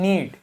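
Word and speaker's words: knead: फिर एन लिखा है तो के को प्रोनाउंस नहीं करेंगे क्या लिखा है नीड नीड मतलब गूथना किसी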